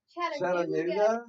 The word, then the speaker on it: Chattanooga: Chattanooga?